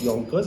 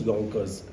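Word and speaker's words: Yankauer: uh soft end suction this is called as Yonkers suction it is pronounced Yonkers it is spelled as y a n so it's gank course but it's pronounced as Yonkers so this has got multiple holes so that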